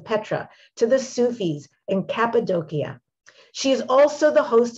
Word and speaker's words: Cappadocia: the name of that country the sufis and kappa doshia how do you say that cappadocia good but you did actually very well most